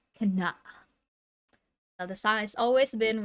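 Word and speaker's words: KANA: the song on Spotify it's k space a space n space a it's pronounced as can the song has always been Rose tinted yeah it's 2:42 p.m.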